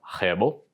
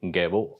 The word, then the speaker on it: Gebo: Il se prononce (R)hbo, mais pourrait tout aussi bien être Gebo, avec un G dur, plus loin un peu plus tard à l' époque proto-germanique. Pour des raisons de compréhension, j'opterai pour la prononciation « Gebo », bien que (R)hebo semble beaucoup plus cool. De toute façon.